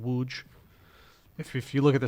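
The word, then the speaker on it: Łódź: center of Poland called wooj if you look at the spelling you would and you see how it's spelled you'd think it's called lods but it's actually pronounced wooj and we had a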